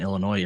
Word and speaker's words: Illinois: your argument said that I always pronounce the s in Illinois in my head and then I have to remove it when I say it out loud there's certain words